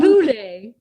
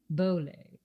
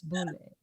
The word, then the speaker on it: Bolét: Not Boulé, Bolet. She doesn't rhyme with Robert Goulet. It's Bolet. Bolet, actually.